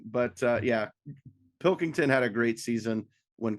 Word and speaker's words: Pilkington: little bit this year it's not Pinkerton no it's not Pinkerton but uh yeah Pilkington had a great season